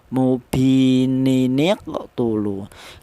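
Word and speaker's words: مُبِينٌ اقْتُلُوا: Cara bacanya mubininiqtulu ya. Ini jangan nin ya, tapi mubi ya, mubininiqtulu.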